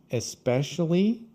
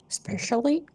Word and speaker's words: especially: Don't eat the Y. So, and then there are people that say especially. So, another situation where people sometimes cut one of the the syllables. So, some people say especially instead of especially.